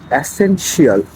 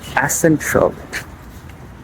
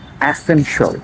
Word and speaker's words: essential: যেমন একটা common word যদি আমি বলি অ্যাসেনশিয়াল, অ্যাসেনশিয়াল ইজ নট the correct pronunciation. আপনাকে শিয়ালটাকে মেরে সল করতে হবে, তাহলে কারেক্ট প্রোনাউন্সিয়েশনটা হবে অ্যাসেন। You have to সে অ্যাসেন অ্যান্ড শিয়ালটাকে মেরে সল, তাহলে অ্যাসেনশল, অ্যাসেনশল, essential.